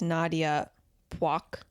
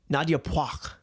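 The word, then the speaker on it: Nyadiew Puoch: 16 by the Fire is Nadia Poik. Nadia Poik. I appreciate the correct pronunciation on the broadcast.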